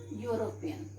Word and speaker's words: European: consonant sound okay like for example european he is a european now children it is starting with e but if we will pronounce this word will come okay you will come and u is a constant sum y o or use a constant sound that's why instead of